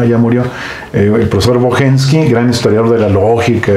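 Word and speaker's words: Bocheński: Aquí lo pronuncian Brochenski, pero él lo pronuncia, yo creo que un poco al alemán, aunque era polaco, ¿verdad? ya murió eh el profesor Bohenski, gran historiador de la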